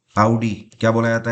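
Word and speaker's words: Audi: कई लोग इसको ऑडी बोलते हैं, बट ऑडी इसका सही प्रोनाउंसिएशन नहीं है। इसका सही प्रोनाउंसिएशन है आउडी।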